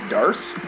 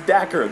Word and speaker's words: Dacre: For some reason, I keep getting people say, online they say his name is Darce. No, that's Dacker. That's D-A-C-R-E. It's like Acre.